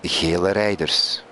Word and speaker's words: gele rijders: One of my Dutch friends has told me that Jella Richards actually means yellow driver and is pronounced gele rijders.